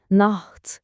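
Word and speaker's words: Nacht: Nah derken de o ç sesini gırtlaktan hafif bir hırıltıyla çıkarmaya çalışın. Naht gibi. Good night.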